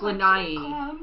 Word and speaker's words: Lanai: Maui and then we went I think it's pronounced lanai lanai II I think is how they say